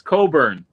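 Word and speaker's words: Cockburn: work for sure now be careful the way you say his name it's coburn i used to say it the other way i didn't know there's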